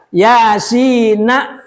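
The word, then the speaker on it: يس: Yasin wal Qur'anil Hakim biidharin nun.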